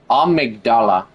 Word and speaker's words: Amygdala: It's got a G in it. Amygdala, I think is how you say it.